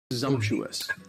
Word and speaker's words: presumptuous: Presumptuous. And presumptuous has four syllables, and the stress is on presumptuous.